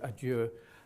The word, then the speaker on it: adieu: to point out that Joyce himself pronounced the word adieu, adieu, adieu, very ooh, yeah? And there's a note in the music to say that's how you're meant to pronounce it.